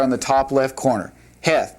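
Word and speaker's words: ח: Heth pronounced like that.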